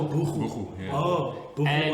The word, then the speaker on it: buchu: It says here there's buku oil or buchu. Is it buchu or buku? I think you pronounce it Oh, buku.